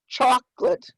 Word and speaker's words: chocolate: in blue canoe okay there's a dialect difference between number of syllables as well yeah so i have two syllables chocolate how many of you have three syllables yeah let's look at